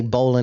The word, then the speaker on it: Baldwin Park: you from he's from Baldwin Park but he pronounces it Baldwin Park Parkway Baldwin Park so even then Adam can't say bowlan because he doesn't know what the bowan is